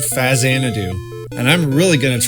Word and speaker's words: Faxanadu: For over 30 years, I've been pronouncing the name as faxanadoo, and I love saying it like that, but the actual pronunciation is indeed fazidadu, and I'm really going